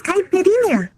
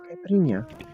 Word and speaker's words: Caipirinha: My name is Caipirinha. Caipirinha. Is that how you say it? Caipirinha? Caipirinha? Yeah. Caipirinha.